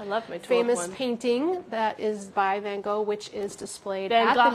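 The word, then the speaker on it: Van Gogh: painting that is by Vango which is displayed at the Museum oh yes we have to laugh because in Amsterdam the proper pronunciation of mango is apparently vananga this is my pretty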